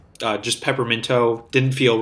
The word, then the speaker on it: Pepperminto: And I just say it's the word peppermint with an O at the end.